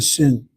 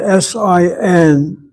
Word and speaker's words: sin: 300 you have the shin and the sin. that s i n is mispronounced as sin. It is pronounced as sin in Hebrew, but it doesn't mean sin in the sense of an infraction.